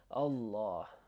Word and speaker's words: Allah: This is the thing that I want to just emphasize, the a sound.